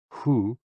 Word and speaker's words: hu: associated with the kidneys h-o-o pronounced like who which is associated with